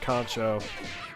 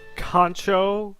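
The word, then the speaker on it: kanchou: like to see magma use more than just concho i love contour too like yeah concho's a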